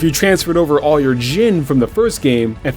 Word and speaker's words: djinn: Your stats, items, equipment, Jin, which is how I'll be pronouncing it for this video, either with a link